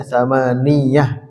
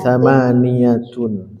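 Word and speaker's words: ثمانية: Nah, ini jangan ditasydid ya. Tsamaniatun. Ada yang bacanya tsamaniah padahal salah gitu harusnya tsamaniyatun. Tsamaniahat tisatun dan asratun.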